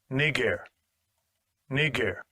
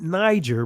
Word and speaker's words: Niger: in the Bible it's they have you pronounce it Niger but that's not the proper pronunciation okay but we see